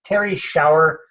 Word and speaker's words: Terrie Schauer: the call with me today and it is Terry shower am i pronouncing your name properly Terry pardon me yes